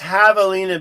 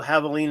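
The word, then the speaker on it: javelina: So, it's pronounced Havalina because the J is a hot in espanol. And so, Havalina is pronounced without the J.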